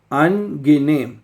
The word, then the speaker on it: angenehm: ठीक है, angenehm। Okay, अगर आपके लिए एक लफ्ज़ नया है, मुश्किल है, तो जर्मन लफ्ज़ को प्रोनाउंस करना बहुत आसान है।